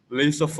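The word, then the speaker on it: laissez-faire: and long word but how to pronounce it is lay suffer okay so it's the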